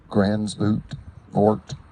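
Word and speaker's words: Gansevoort: Grant Cottage National Historic Landmark in Gransvoort, New York. You can pronounce it G-A-N-S-E-V-O-O-R-T, New York.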